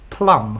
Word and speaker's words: plumb: even though this word plum has got to be on the end the B is silent plum as in lamb climb okay silent bees at